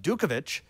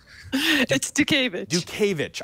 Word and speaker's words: Dutkiewicz: gentlemen it is do kovitch I probably did not say her last name correctly but she's gonna correct me what is the proper pronunciation of your name Duke Ava CH I will I will